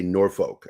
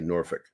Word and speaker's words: Norfolk: that's right i'm from virginia i don't say norfolk i say norfolk because that's how we pronounce it in virginia for some reason uh